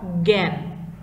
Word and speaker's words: জ্ঞান: লক্ষ্য করো এখানে কি আছে বলতো, এই যুক্ত বর্ণের মধ্যে জয়ে ইয়, তাই না, এর উচ্চারণটা হচ্ছে কেমন জ্ঞান, গ দিয়ে উচ্চারণ করতে হচ্ছে।